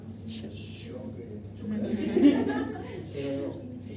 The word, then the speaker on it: Sjögren: Se pronuncia Sjögren. No sabía. Sí, yo también pronunciaba Sjögren, pero no, se pronuncia, viene de nomenclatura francesa y se pronuncia Sjögren.